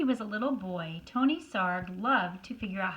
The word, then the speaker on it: Sarg: Anthony Tony Frederick Sarg. Sarg rhymes with arg.